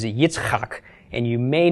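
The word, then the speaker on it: יצחק: Oh a bruh ham but Isaac is a Hitchcock and you may not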